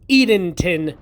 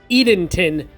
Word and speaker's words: Edenton: so I did actually research and look it up it is pronounced Edenton North Carolina so I was correct Edenton North Carolina also as always I'm going to